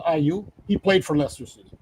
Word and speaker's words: Ayew: talked about, Andre Ayew, they say Ayew, they pronounce Ayew.